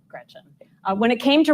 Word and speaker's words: Gretch: Don't let people call you Gretch because it rhymes with wretch.